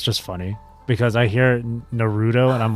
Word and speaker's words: Naruto: for example Naruto right Naruto but then I hear but then there would be people who would pronounce as Naruto or whatever like kind of like in a similar like way as burrito.